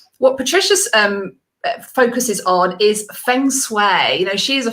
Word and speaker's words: Feng Shui: So the way I say it is Feng Shui, and that's how I've been taught.